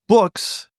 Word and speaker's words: Boox: He says a company called Onyx has had books, that's spelled Boox, out for a while, and we'll put a link to that in our show notes.